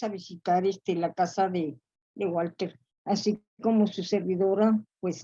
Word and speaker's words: Walther: Montes, sobre Walter, que decía que prefería pronunciar su primer apellido según la fonética alemana, es decir, Walter, que que poseía una amplísima biblioteca de historia.